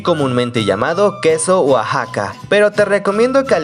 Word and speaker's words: Oaxaca: La X de Oaxaca es como la X de México, se pronuncia como J, sin embargo comúnmente las